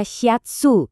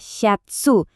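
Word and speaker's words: シャツ: Berikutnya ada syatsu. Dibacanya syatsu. Ini juga kata serapan dari bahasa Inggris shirt yang maksudnya itu kemeja.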